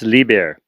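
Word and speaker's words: Liebherr: terrain all right i don't know how to pronounce this company the bear it's lieber yeah libya or german owner there's a german company called liber and they make some uh quality equipment rough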